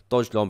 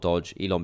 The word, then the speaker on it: Dogelon: renamed it after the capital city of mars dodge long pronounced not dodge elon because they would be a migrant and if